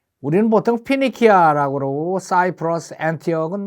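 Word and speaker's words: Phoenicia: 죽겠다 그래갖고 도망을 간게 어디까지 멀리 갔는가 하면은 발음을 봅시다 티 우리는 보통 페니키아 그러고 사이프러스 티업은 뭐 똑같아요 피니시아 사이프러스 티어까지 멀리멀리 도망을 갔어요 이게 도대체 어느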